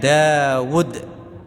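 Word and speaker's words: داود: wawunya dicuri oleh Amr jadi tulisan Daud dalam bahasa Arab itu Dal Alif wau Dal tulisannya Dawud wuya pendek tapi dibaca panjang dawudu enggak ada wawunya Harusnya kalau wunya dibaca panjang harus ada Waw sukun Ya kan karena dah bertemu wa sukun jadi Mad thii jadi orang mengucap Daud meskipun tulisan wunya pendek enggak ada ww sukunnya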